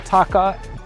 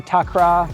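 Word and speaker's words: takraw: This is what they call taka or takra. There's different ways to say it and spell it.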